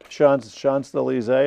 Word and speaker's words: Champs-Élysées: This is an interesting statue here at the top of the Champs-Élysées. Am I pronouncing it right?